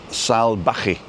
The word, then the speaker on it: salvaje: Salvaje. It's a V is a B. So Callao, so it's C-A, Ca, and then double L is a Y, and then R-O, Callao. Callao. Callao. Callao Salvaje.